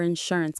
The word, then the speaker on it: insurance: Let's pronounce that. Insuranceance. Insurance. The stress is on the middle syllable.